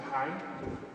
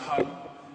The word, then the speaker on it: hang: The instrument I play is called the hang. It's actually pronounced hung and made of steel.